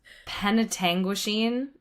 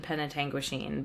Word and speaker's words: Penetanguishene: It's Penetanguishene is how I'm gonna say it, but it's Penetanguishene. I'm sure it's an indigenous word, and Yes. we're gonna call it Penetanguishene.